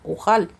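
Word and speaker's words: יוכל: no lo puedo soportar lo cual en hebreo se pronuncia ujal sino más bien Yo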